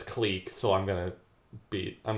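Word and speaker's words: clique: K click or click there's no consensus on what how it's pronounced but most academics pronounced it as cleek so I'm gonna be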